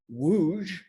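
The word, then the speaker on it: Łódź: coming to you from the beautiful city of wooj poland don't let the way it's spelled fool you it looks like l o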